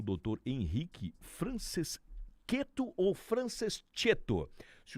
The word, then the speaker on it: Franceschetto: É italiano, imagina, sem problemas, é Franceschetto.